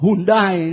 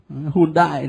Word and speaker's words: Hyundai: xe hơi Hyundai đó, Việt Nam mình đọc là Hyundai đó, Hyundai đấy.